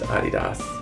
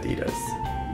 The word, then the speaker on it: Adidas: way Nike or Adidas or Adidas it's actually pronounced Adidas not Adidas we say it wrong I don't think I've